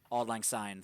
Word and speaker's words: Auld Lang Syne: Or for Auld Lang Syne, I don't know how to pronounce it. Auld Lang Syne. Auld Lang Syne, thank you.